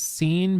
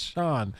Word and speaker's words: Sean: turning and being like, his name is Scene Bean? And she's like, no, it's Sean. It's like, but it's spelled scene.